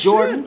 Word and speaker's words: JRDN: You, JRDN pronounced Jordan?